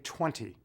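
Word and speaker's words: twenty: Every time I say 20 in a talk, I make certain I pronounce the second T.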